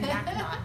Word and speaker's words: MacNaughton: - No, no it's great, I always say my name is pronounced like there's a knot in my shoelace. - So, like Mac Knot.